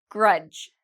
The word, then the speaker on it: grudge: Grudge. Grudge, same rule, D and G together.